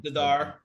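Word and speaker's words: Z'Dar: Zadara. Zadar. Yeah. That's how I've always pronounced Yeah.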